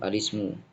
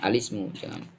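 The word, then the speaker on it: الاسم: Ya, wahia al-awwalu alismu. Kita bacanya alismu, jangan al-ismu, bukan, tapi alismu.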